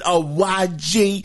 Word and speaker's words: Awaji: Awaji. It's spelled A-W-A-J-I.